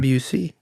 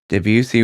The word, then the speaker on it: Debussy: I think that's how you pronounce his name. Debussy.